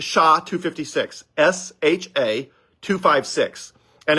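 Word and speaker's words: SHA-256: same one right now is called sha 256 sha256 and it's uh I forget it's a complicated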